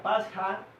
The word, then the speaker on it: Pascha: Entonces, lo que yo les estaba explicando, aquí Pesach, que significa en hebreo pasar por alto, y Pasha, que se pronuncia Pascha, significa Pascua.